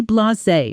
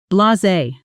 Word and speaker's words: blasé: After years in the industry, he was completely blasé about celebrity clients walking through the door. Pronunciation: blah-zay blasé Sentence: She seemed strangely blasé about winning the award.